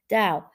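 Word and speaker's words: Tao: divide sorry to the dow that's hard for me to say cause it's a t b pronounce like a d dao uh but when you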